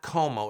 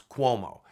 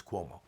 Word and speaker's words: Cuomo: the way it's not como it is actually pronounce Cuomo it is an Italian name and just FYI you'll hear people say it both ways but the proper pronunciation is Cuomo Governor Cuomo is now